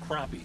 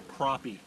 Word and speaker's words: crappie: dark it is man well crappy sorry i mispronouncing it crappie the second one but look how dark